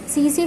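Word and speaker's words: tsetse: 6th है एन इंसेक्ट्स which causes a डिजीज़ called sleeping sickness, इसका answer है CC फ्लाई, लेकिन इसकी जो स्पेलिंग है T से स्टार्ट होती है, तो TSE फ्लाई इसका आंसर होगा।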